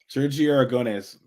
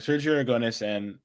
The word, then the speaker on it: Sergio Aragonés: So I can never pronounce his name, so say it. Sergio Aragonés.